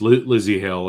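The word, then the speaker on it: Lzzy Hale: Yeah, so it's Hale, Hale, and then Storm. So it's Lizzie Hale, and her name is spelt really cool. It's Lzzy, Lizzie.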